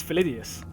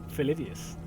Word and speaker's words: Philidius: A confession to make: you've always called you Philly because you don't know how to say the full name. Well, there you go. It's Philidius. Philidius.